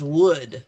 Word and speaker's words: would: And then the effect is would plus the verb. Good verb. Please verb. And this is kind of a weird pronunciation for a lot of people. Would. Good. Good. You got to go, ooh, Would.